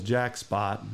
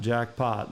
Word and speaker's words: Jack Spot: chorus Hawkeye Offspring Campbell's jack spot not jackpot but Bud named him